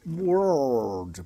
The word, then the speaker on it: world: É, world, pronúncia difícil para nós brasileiros, né? É, o R é realmente pronunciado como girl, como world, né?